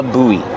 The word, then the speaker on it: buoy: but it's called a buoy pronunciation use a long ooh like food and then the long e like green beans and Link the vowels when you leak the vowels you hear kind of a w sound together boo